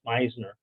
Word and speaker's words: Wisner: need to make apologies my last name is pronounced Wisner but that's an artifact of Ellis Island it's not necessarily anything